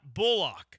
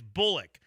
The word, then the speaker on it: Bullock: It's not Al-Shire, and it's not Bullock. Yeah. It's Shire, and it's Bullock.